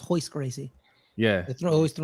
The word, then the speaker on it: Royce Gracie: it's like it's like all the R's they pronounce it Like H so it's not Royce Gracie it's hoist crazy yeah it throws like